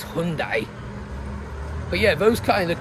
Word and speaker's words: Hyundai: Actually, no, it's not Hyundai, it's pronounced Hyundai. According to the Koreans, it's Hyundai. But, you know, we always pronounce it UK like Hyundai or Hyundai or something. I think it's Hyundai.